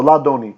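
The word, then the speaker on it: לַאדֹנִי: And the aleph here is kiesing. So it has lost its consonantal properties, even though we no longer pronounce aleph. It used to be pronounced. And it's just a placeholder now for all practical purposes, so that we know what the word is.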